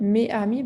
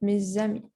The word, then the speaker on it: mes amis: Then with mes and ami, you have to pronounce it as a Z, mes amis, right? Not mes amis, but mes amis. Same thing, mes enfants, not mes enfants, but mes enfants.